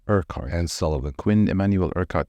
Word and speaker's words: Urquhart: I I'm not going to be able to pronounce Urquhart. It's a Scottish name. Urquhart. Urquhart.